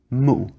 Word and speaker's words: mu: and Jo xu answered mu okay mu is the japanese pronunciation of a Chinese word that means nowhere it